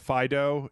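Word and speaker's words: Fidough: off this new pokemon called fido and dough is spelled like d-o-u-g-h because it's like a dog made out of dough it's like a dough dog oh jeez uh that's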